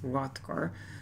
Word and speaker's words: Hrothgar: So the king of the Danes, Hrothgar, The H here is silent as far as I know, so it's pronounced Hrothgar.